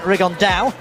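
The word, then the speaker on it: Rigondeaux: 3 weeks and he's T's talked about fighting riondo or as he's correctly pronounced with the uh Spanish accent rigon da and two absolute Geniuses but it could also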